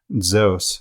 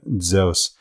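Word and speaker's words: Ζεύς: we take Zeus and we pronounce it as an ancient Greek zos where there's if you could just imagine a D in front of the Z kind of stuck to her right zos then it's easier to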